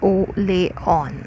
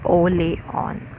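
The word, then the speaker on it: Orléans: is this thing orleans it is a french word but it's pronounced as oh lay on okay so the perfect pronunciation of orleans is o leon okay so she was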